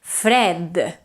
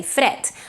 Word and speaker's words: fred: That's why, for example, the word fred is spelled with a D, but is pronounced with a T. It's completely voiceless. You don't say fred.